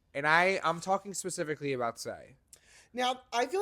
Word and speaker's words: Sai: Well, Say literally, and just, I'm going to apologize now. The way that her name is spelled, S-A-I, it makes me want to say Sai.